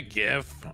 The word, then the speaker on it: GIF: Hey, I'm a gif. We're hippos, but like from space. That guy's a freaking space hippo. Pronounced Jif. I'm crying. No, it, look, anyone who knows the debate knows that it's gif, okay?